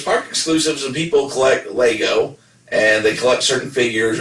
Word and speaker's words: Lego: of people collect lego or i always say legos but like nevada it's pronounced lego so you don't pronounce it i'm